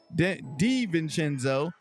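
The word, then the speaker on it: DiVincenzo: this what I got sabonis 10 rebounds Dante Dev venzo say it right d venzo 15 points and we got Josh Hart eight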